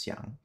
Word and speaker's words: 箱: 像 Okay, I was right. It was Xiang.